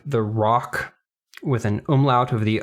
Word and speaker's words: ROK: lion steel rock and it is pronounced rock even though it's written in all capital letters it is i mean it's not an initialism you don't say rok i guess i don't